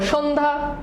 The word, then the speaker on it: সন্ধ্যা: সন্ধ্যা দেখো সন্ধ্যা উচ্চারণ লিখো পারো কিনা? সন্ধ্যা। গুড। তাহলে সন্ধ্যা কি হবে?